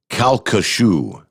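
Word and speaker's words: Calcasieu: Louisiana thank you Michael he said it is pronounced kashu the kashu river see if I can J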